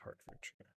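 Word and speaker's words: Hertfordshire: Warwickshire Herfordshire it's Hartford Buckinghamshshire Hint I need some music northampton there we go Oxford Sorry, got that one completely wrong.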